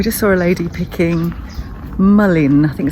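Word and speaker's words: mullein: saw a lady picking mullin i think so you pronounce it marlene m-u-l-e-i-n flowers and it reminds us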